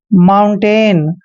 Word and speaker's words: mountain: देखिए M का उच्चारण हम मैं करते हैं और OU का उच्चारण आउ करेंगे। N को आधा न लिखेंगे और T को हमने टे पढ़ना है। AI को ए की मात्रा लिखते हैं। N को हमने न पढ़ना है। माउंटेन।